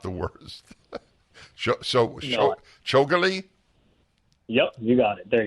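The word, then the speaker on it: Chougule: unions which in itself deserves time with Mr shiguli so Akash welcome to the show thank you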